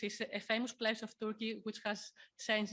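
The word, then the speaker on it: Türkiye: uh websites turkey uh turkey has tried to is now trying to Rebrand itself so uh turkey is the English name turkey is how uh the the countries pronounced in Turkish and now or since a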